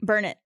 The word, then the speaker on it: Burnet: Burn it. Gavin, you want to give it a shot? That's how I would say it. There's an easy way to remember it. You say, it's burn it, darn it.